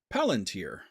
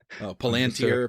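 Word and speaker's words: palantír: not 100 sure myself palantir palantir yes according to Sir Ian McAllen it's palantir but in my mind it's always palantir like more german-ish but because whatever you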